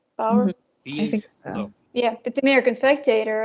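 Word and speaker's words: Bawer: by Bruce Power um is that how you pronounce it b-a-w-e-r right power yeah but the American spectator and uh it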